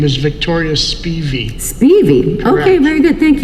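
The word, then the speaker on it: Victoria Spivey: according to people who knew her the correct pronunciation of the name is victoria speevy speevy okay very good thank you she said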